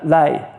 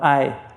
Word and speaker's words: ay: Trust me, Turks are Turks and many Turks are as white as the uh lay lay Did I say that right? No, ay. How do you say moon? Ay ay. Yeah.